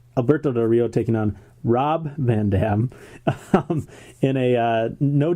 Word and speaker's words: Rob: And remember, Matt, it's not Rod, it's Rob.